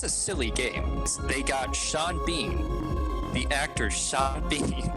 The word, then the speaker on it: Sean Bean: You gotta pronounce both his first name and last name are spelled practically the same, all right? There's gotta be some consistency. Is he Seed Bean or is he Shawn Bawn?